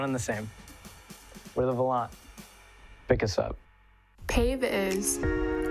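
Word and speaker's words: Volante: Lately, you might have seen one of these red stands around campus and wondered, hey, what's the volant? Well, actually, it's pronounced the volant.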